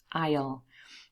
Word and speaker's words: aisle: knows this one and the pronunciation of the second one is identical i know there's an s there very misleading but you do not pronounce it aisle and the aisle here